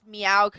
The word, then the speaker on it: Maokai: You technically said it wrong because it's Meowkai, actually.